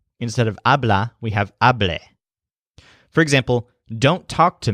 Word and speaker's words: hablé: So the stressed syllable is a, as in habla, but the second syllable sounds like le instead of la. So hablé, hablen, and hables.